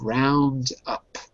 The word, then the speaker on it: roundup: We have the last one, to round up. To round up. So the noun would be a Roundup. roundup. So to round up, a roundup. Notice how the pronunciation changes a little bit.